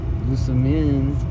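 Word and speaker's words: Lusamine: Lusamin.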